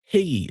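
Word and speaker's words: hygge: It's all higgy. That's how you pronounce it in Denmark.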